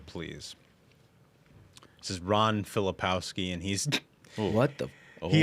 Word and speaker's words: Filipkowski: Filipkowski.